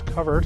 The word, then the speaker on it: covert: Covert, often confused with the word covert, and the proper pronunciation is covert, and it's related to the word cover.